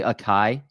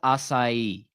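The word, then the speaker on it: açaí: on that that word that word is pronounced assai okay uh we have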